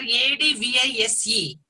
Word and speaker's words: advise: A-D-V-I-S-E. A-D-V-I-S-E. That is verb. That is verb. A-D-V-I-S-E. That is verb. So here pronunciation is slight difference is there.